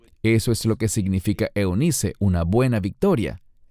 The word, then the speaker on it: Eunice: griego es lo ID y tu madre Eunice que literalmente en griego es euniki y significa la buena Victoria eso es lo que significa Eunice una buena Victoria y